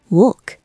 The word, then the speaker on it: wolk: Wolk, cloud. W sounds like V.